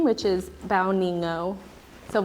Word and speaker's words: Bao Nghi Ngo: Vietnamese name, which is Bao Nghi Ngo. So pronunciation, it's like bow, like you're taking a bow, your knee, and then no.